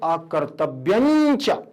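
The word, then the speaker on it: अकर्तव्यञ्च: तो यहां पर लिखा हुआ अकर्तव्यम प्लस च, लेकिन यहां पर उच्चारण दूसरा है, यहां दूसरा उच्चारण है। यहां लिखा है अकर्तव्यम च, यहां पर पढ़ेंगे अकर्तव्यंच, अकर्तव्यंच। इया है ना, यहां देखो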